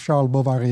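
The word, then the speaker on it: Charles Bovary: as flamberge account of Shah Baba he in fact the novel starts with Sheldon Bovary and I'm pronouncing in vain in the French way because he goes into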